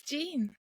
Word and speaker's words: Jean: Is it Jean? Yes, it's Jean. Yes. Okay. Well, in France they might pronounce that a little bit different.